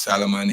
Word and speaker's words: Solomon: Solomon, which is the Bible in Hebrew language, is Solomon. In Arabic language, is Suleiman.